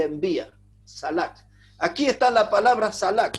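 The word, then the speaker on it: שלח: Ahora, a mí me llamó es la palabra hebrea que se escribe salak, S-H-A-L-A-K, salak.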